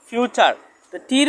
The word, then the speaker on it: future: আমরা এই ক্লাসে জানবো টি এর পরে যদি ইউ আর ই থাকে তাহলে টি লেটারটি উচ্চারণ চার হবে।